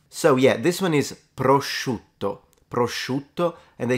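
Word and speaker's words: prosciutto: can add to this the intensity of the sh sound the sh depends on where you're from in Italy in the sense that the further south you go the stronger that one becomes even mine is a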